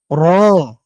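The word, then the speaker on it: ر: ওকে, এরপরে দেখুন র। রটা কি? র হচ্ছে যে জিহ্বার আগাটা আছে এটার একটা উল্টা পিঠ। ঠিক আছে, জিহ্বার আগার উল্টা পিঠটা লেগে এভাবে উচ্চারণ হবে র।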